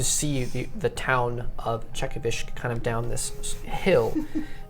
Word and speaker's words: Chekovysk: The uh as you guys drive, um you begin to see the the town of Czechovish kind of down this hill.